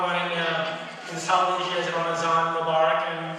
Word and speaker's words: Ramazan: One very common one in South Asia is Ramazan Mubarak, and the pronunciation is Ramazan. It's the same thing as Ramadan, which is an Arabic word.